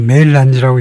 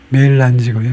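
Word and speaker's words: mélange: 이것은 빙하 이야기할 때 나오는 멜란지가 아니고 메일란지라고 읽네요. 영어에서는 메일란지라는 단어는 우리말로 아이스 멜란지, 빙체 혼합되다. 그래서 아이스 멜란지라고 그럽니다. 영어식 발음은 메일란지고요.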